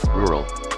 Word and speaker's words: rural: like draw drill or Draw e rural I'm American and I need at least 5 minutes of preparations and repeating it to try to say it correctly when I say it I try to roll my tongue on the second R and I just can't hope you